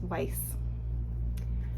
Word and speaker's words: Weis: if you haven't heard of this brand kiera weiss i always pronounced it kr but it's here k-e-e-r it's kind of how you pronounce it and then the last name here the second name uh is just weiss so i the only other product i have